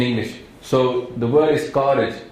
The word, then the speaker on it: Karaj: So the word is Karaj. It's a Ka and then Raj, Rara and Jaja. But unfortunately, if you see K-A-R-A-J, you can mispronounce that and say Anand Kaaraj.